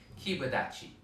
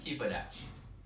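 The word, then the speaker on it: kiba dachi: it together kiba daci sometimes the pronunciation involves adding a little bit of an e sound at the end kibadachi okay and sometimes it's just a little bit shortened keep a dash like this so let's try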